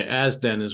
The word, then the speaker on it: Azden: Yeah, Asden is how they pronounce it.